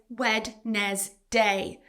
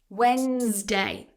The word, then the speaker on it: Wednesday: A common mispronunciation here is Wednesday. So you're pronouncing letters that should be silent and adding an extra syllable. But actually, this word is just 2 syllables and the D is silent. Wednesday.